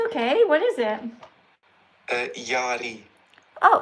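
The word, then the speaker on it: Jarie: Uh, Yari. Oh, how do you spell that? J Yeah. A Yeah. R Mhm. I E But yeah, so it's like Jerry, but it's pronounced Yari. Yeah. Yari.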